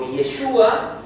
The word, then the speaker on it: Yeshua: Judíos que han creído que Jesús, o Yeshua, como lo pronuncian ellos, es el Mesías.